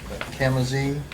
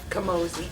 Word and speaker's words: Camozzi: The next on the list is the Camazee construction proposal. Is that how you pronounce it? Camozzi.